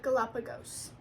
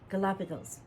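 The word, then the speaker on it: Galápagos: The Galapagos. Galapagos.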